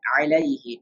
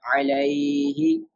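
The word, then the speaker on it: عَلَيْهِ: without stretching, because lean letters always should pronounce without stretching. Like alayhi, not alayhi, right?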